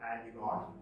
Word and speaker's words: Antigone: Antigone, not Antigone.